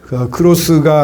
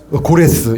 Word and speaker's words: 고레스: 바사 왕 크로스 때가 맨날 일본 발음하고 달라가지고 크로스가 아니라 고레스, 예, 고레스 왕. 크로스랑 고레스랑 많이 다르죠.